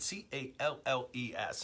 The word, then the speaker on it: Calles: And if anyone wants to correct my pronunciation, I think I'm saying it right, Calles. And whenever there's a double L in Spanish, it's a Y sound, Calles.